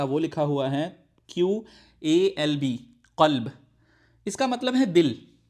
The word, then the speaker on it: قلب: لکھا جائے گا وہ لکھا ہوا ہے QALB، قلب۔ اس کا مطلب ہے دل، ٹھیک ہے۔ اور